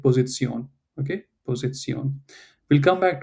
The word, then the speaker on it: Position: So it's an English word position, but in German we read it like Position.